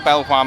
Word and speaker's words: Belvoir: belleville manors and now before anyone starts commenting we know if you're from leicester you pronounce it bieber but we don't agree with that so we're not doing